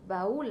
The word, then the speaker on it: baúl: voy a tener un ejemplo baúl u lleva tilde entonces dice baúl la separa otro ejemplo es geografía